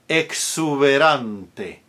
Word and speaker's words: exuberante: Exuberante. Not exuberante, but exu. KS. Exuberante.